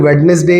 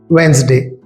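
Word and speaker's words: Wednesday: इसी तरह वेंसडे को बहुत सारे लोग वेडनेसडे या फिर वेनेसडे कहते हैं, सही प्रोनाउंसिएशन है वेंसडे।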